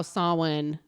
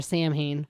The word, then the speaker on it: Samhain: need to talk about how sawwin is spelled funny yeah it is it's not samhien it's like a curbacity i would like it more i think if it were samhain samhain samhain that's like a good